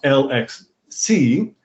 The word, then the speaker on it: LXC: i just discovered that alexey and is is pronounced l x see but lxd is actually pronounced lex the cause